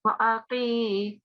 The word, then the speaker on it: وأقيموا: Yeah, don't prolong the a. It's just a single fatha. Wa'aqi. Yeah, wa'aqi. Good.